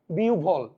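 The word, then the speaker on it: বিহ্বল: বিহব্বল। আরেনারে ভাই বিউল।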